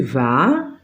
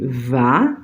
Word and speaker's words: vas: Segunda, tu vas. Tu vas, no se pronuncia la S.